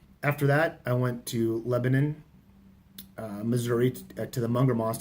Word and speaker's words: Lebanon: how to pronounce it she says it's not Lebanon like in the Middle East it's not Lebanon it's Lebanon and you give prancin